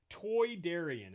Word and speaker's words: Toydarian: Toydarian is the way they pronounce it. Toy? Yeah. Toy like they're from...